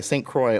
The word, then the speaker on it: St. Croix: Much of us know this story after Hurricane Hugo destroyed, how do you pronounce that? St. Croix. St. Croix, only Olympic-sized swimming pool.